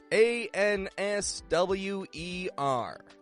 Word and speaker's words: answer: the W you see the W that is in the spelling of the word answer is not pronounced in the actual word and so I've seen